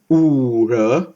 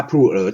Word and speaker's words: ผู่เอ๋อร์: ไป ครับ พูด ถึง อู่ เหรอ ที ชา ผู่เอ๋อร์ ขอ โทษ ออก เสียง เป็น ชา ผู้ เหรอ ที่ นะ ครับ เป็น